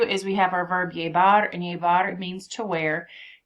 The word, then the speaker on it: llevar: So double L's, we know, make a Y sound. You are welcome to do the V as in victory, or you could pronounce it B as in boy. So llevar is to wear.